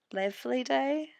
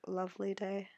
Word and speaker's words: LavilyDay: I've heard so many people say LavilyDay, which I can understand why they would say it like that, but it's just meant to sound like Lovely Day.